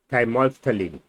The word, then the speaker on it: thymolphthalein: So this is pronounced as thymolphthalein.